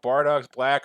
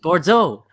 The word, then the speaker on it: Bordeaux: I should check out Bardock's Black or however you pronounce her name? And I just realized I don't actually care about that. It's French. It's French. Bordeaux. Bordeaux. It's French.